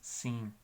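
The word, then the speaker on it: sim: Y la palabra de sí, o sea, sí, es S-I-M en portugués, sin.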